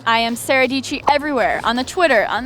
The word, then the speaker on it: Sara Dietschy: My name, Sara Dietschy, rhymes with Peachy. I am Sara Dietschy everywhere, on the Twitter, on the Snapchat, on the Instagrams.